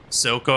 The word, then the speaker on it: Silco: Another one, if you've ever watched a TV show called Arcane, Silco, I think is how I say his name. I don't think it's Zuko.